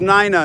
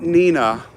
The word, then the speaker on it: Nina: Pronounced Nina, not Nina.